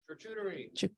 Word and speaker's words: charcuterie: Charcuterie.